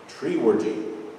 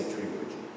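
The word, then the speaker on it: Treworgy: 30, 40 years ago, she made me promise that I would always pronounce that name Treeworgy. She didn't want to hear any other pronunciations. So I promised, so I always say Treeworgy.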